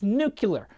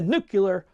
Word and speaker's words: nuclear: saying did you just correct me its nuclear no ice that's what I said this always happens with somebody's like no new James its nuclear and I'm like Alice I said no no I said it right just leave me alone